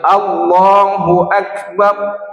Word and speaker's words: Allahu Akbar: Jangan macam berkumur-kumur membacanya. Allahu Akbar. Ah tak ada hurufnya. Jadi satu-satu hurufnya itu harus Allahu Akbar.